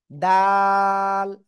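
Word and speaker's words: دال: এই অক্ষরের নাম কি দাল জিব্বার গা উপরে দুই দাঁতের গোড়ায় লাগাবেন লাগিয়ে তিন আলিফ টেনে উচ্চারণ করতে হবে সবাই একসাথে জোরে বলেন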